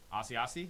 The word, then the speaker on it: Asiasi: this time two color prime patch rookie auto asiasi that's how you say his name nate stanley 199.